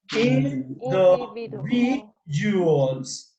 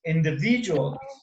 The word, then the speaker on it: individuals: Individuals. Individuals. Individual. Yeah, like jewels, individuals.